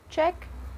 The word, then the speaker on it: Czech: let's pronounce these Advanced countries and nationalities correctly Czech Republic check a check he likes Czech music his check